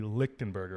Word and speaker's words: Lichtenberger: Lichtenberger, right? That's how you pronounce it.